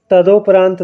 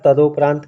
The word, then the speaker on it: तदुपरांत: बहुत बार हम उच्चारण तदोपरांत का करते हैं, गलत उच्चारण करते हैं। शुद्ध उच्चारण होगा तदुपरांत, है ना। ता रहेगा, दा पर छोटा ऊ की मात्रा रहेगी और तदुपरांत, परांत, है ना, ये रहेगा तदुपरांत।